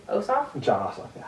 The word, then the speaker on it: Ossoff: Ossoff? John Ossoff. Yeah. Ossoff.